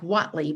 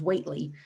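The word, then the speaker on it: Whately: of that town weightly which looks spelled like watley but it's weightly um in amherst um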